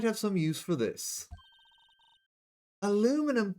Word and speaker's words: aluminium: Aluminum P. Sorry, I'm going to say that right. Aluminum powder for taking fingerprints. Aluminium. That is the correct way to pronounce it.